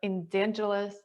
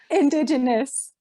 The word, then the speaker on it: indigenous: traditional healer with her endangerous elders hi and welcome nelly how are you amazing i felt like i mispronounced that previous word but if you want to correct me indigenous indigenous i don't it's just